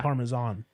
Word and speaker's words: Parmesan: pronunciation, but like because the reason people say Parmesan is because in Italian it'd be like it wouldn't be said Parmesan. Because it'd it's be, Parmigiano. yeah, Because it's yeah. spelled with a G. Yeah. But it's not in English. Yeah, So yeah. it's Parmesan. I mean, I guess you can, but it just sounds kind of like goofy.